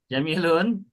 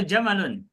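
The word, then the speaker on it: جمل: Jamilun. Jamilun atau jamalun? Jamalun.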